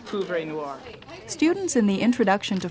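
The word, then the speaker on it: poivre noir: It's pouvre noir.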